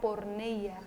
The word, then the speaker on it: porneia: un poquito más sobre la palabra porneia Así es así se dice Ajá bueno sí algunos pronuncian de otra manera así lo aprendí Bueno este tenemos preguntas